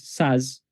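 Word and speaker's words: Szasz: It says, so according to Thomas, I think it's Thomas Saz. So that's spelled Tzasz.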